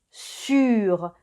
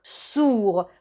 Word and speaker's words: sur: Se pronuncia sur, no sourd, porque sourd en francés significa sordo. Sur es el sonido U y para hacer un U empezamos pronunciando una I y luego ponemos los labios en círculo.